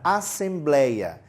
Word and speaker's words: assembleia: Então aquele blei é a parte mais forte, é a tônica da palavra.